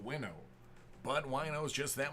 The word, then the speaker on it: Chase Winovich: signs his cards wno I know it's supposed to be pronounced winno but wo is just